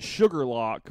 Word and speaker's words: Shuqualak: Well, it's like in Mississippi, you pronounce it Sugarlock, but it's like Shuqualak.